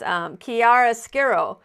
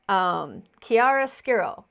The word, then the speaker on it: chiaroscuro: I probably won't be able to pronounce it. I tried to practice, but it's chiaroscuro. But chiaroscuro, yeah.